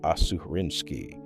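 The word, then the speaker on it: Aserinsky: A graduate student named Eugene Asarinski, pronounced Assuarinski, working with the physiologist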